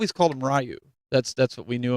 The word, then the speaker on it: Ryu: than me and um he kept calling Ryu like ryui or something and I'm like dude it's I'm like dude it's Ryu and he's like yeah